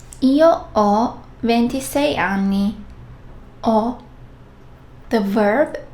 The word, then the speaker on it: ho: And yes, H, H is silent. Io, ho, tu, hai, lui, lei, ha, noi abbiamo, voi avete, loro hanno.